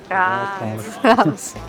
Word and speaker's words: Rathaus: This is still the Rathaus. Rathaus. Rathaus. You have to roll your R's.